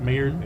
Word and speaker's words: Maillard: And you have what they call the Maillard reaction. I think I'm pronouncing that correctly. Maillard? Maillard, okay.